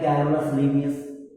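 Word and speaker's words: Carolus Linnaeus: देखिए इनका उच्चारण जो है वो कहीं कहीं पर अलग अलग होता है। जैसे कहीं पर दिया है कैरोलस लिनियस, कहीं पर दिया है कार्ल लिनी, ठीक।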